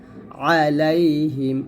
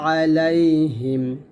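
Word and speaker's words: عليهم: আলাইহা মিম জের হিম আলাইহিম আইন অবশ্যই একটু চাপ দিয়ে বলবেন আলাইহিম এখানে বলতে হবে মোটা করে তা যেন না হয়ে যায় উচ্চারণটা মোটা হবেন আলাইহিম আমরা অনেকে বলি এটা করবেন না করবেন আবার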